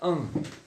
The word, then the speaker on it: un: Então é por isso que a gente vai falar un. J'ai un, ok? J'ai un vélo. Beleza? Pronuncie comigo então. J'ai un vélo. Un, esse N, somzinho de atil.